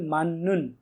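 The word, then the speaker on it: 맞는: মানে কি সঠিক নুন পার্টিকেল মাননুন এটা কিন্তু উচ্চারণ হবে মাননুন কারণ ত ধ্বনির পর যদি নিউন আর মিয়ম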